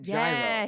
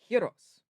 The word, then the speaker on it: gyros: Yes, it's like the word heros. It's not gyro, it's Yes. heros.